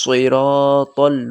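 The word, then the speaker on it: صراط: ঠিক আছে তো দিনাস সিরাতাল মুসতাকিম তারপরে সিরাতল্লাজিনা তো সদ আছে আবার তো স মোটা করে উচ্চারণ করবেন সরাতল মুখ গোল করে সরাতল সিন সিন মত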